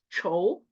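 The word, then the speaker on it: 丑: 자, 얘네는 둘 다 발음이 초거든요. 앞에는 삼성이고 뒤에는 사성이에요. 초, 초 이렇게 읽는데 앞에 초는 못생기다 라는 뜻이고 뒤에 초는 취두부 할 때 취자죠.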